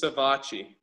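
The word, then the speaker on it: Savatgy: to the limit and your teammate sevaci is that how he pronounces his name it's savachi the bocce he crashed right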